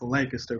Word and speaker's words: Lancaster: Lancaster. What I'll say is this. That shit always makes me laugh. You can tell who is from the area and who not, because it's pronounced Lancaster, fool.